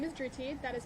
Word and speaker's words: Dhruti: School Dry Pak good afternoon my name is drti that is spelled dhruti last name